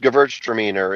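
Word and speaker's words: Gewürztraminer: It's it's pronounced gvert trainer.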